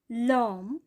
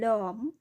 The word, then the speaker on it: homme: les portes, the doors, l'homme, the man, একজন পুরুষ মানুষ বোঝানো হচ্ছে। এটি কিন্তু সাইলেন্ট এইচ দ্বারা শুরু হয়েছে, যার কারণে এখানে লে ব্যবহার হয়েছে। l'homme, the man, l'hôtel, the hotel, এটাও সাইলেন্ট এইচ দ্বারা শুরু হয়েছে।